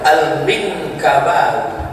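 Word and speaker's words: المنكباوي: huruf Gimana cara bacanya Alif Lam Mim Nun Kaf ba Alif wau ya lama-lama baru saya tahu cara bacanya Al minkkabawi minangkaba Syekh Ahmad Khatib alminkabawi asli Bukit Tinggi merantau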